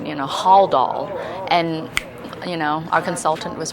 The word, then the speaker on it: Haldol: Like today, one of the normal things that we always say is Haldol, but for some reason in my mind I started saying it, Haldol, and our consultant was right there, Dr.